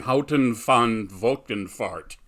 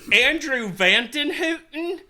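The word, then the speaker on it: Andrew van Houten: movie by the name of Offspring, directed by Houton van Volkenvaart. Yes. I believe is how you pronounce it. You might have a better pronunciation. It's Andrew Van Houton.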